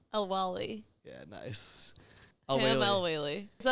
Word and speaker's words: El-Waylly: El-Waylly.